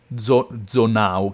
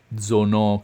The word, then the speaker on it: Zonau: In giapponese sono Zonau, che però sarebbe pronunciata alla francese Zono, credo.